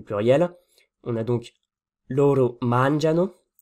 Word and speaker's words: mangiano: on a donc loro mangiano. L'accent tonique est sur la première syllabe, ou plutôt en réalité avant-dernière. On dit ici, pour utiliser un peu de jargon, que c'est strucciolo, donc que ça a glissé.